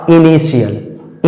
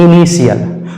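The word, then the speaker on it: initial: के बाद आई ए तो इस टी का हम सही उच्चारण क्या करेंगे सा और कैसा सा तालव्य वाला सा तो इसका सही उच्चारण हो जाएगा इनिशियल इनिशियल उसी तरह से आगे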